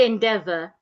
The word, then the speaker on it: endeavor: Now look at the word endeavor. The first letter E sounds a and not e.